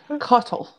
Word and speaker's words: Cottle: It amuses me most the way that all of you pronounce cottle sounds like coddle, and he is the last person that would coddle anyone.